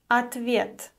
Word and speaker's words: ответ: Ответ. О is unstressed and is pronounced as а.